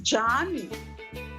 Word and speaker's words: Can: this turkish series and the lead actors name is written c-a-n okay so can yaman but i came to realize that they pronounced it as jaani c a n is pronounced jaan jaanyaman it is very